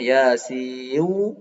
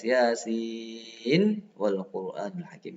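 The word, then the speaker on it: ياسين والقرآن الحكيم: Ya, ini nggak boleh bacanya Yasiu, nah, nggak boleh harus Yasin wal Qur'anul Hakim.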